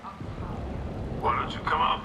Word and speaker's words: Octavia: And it's pronounced Octavia.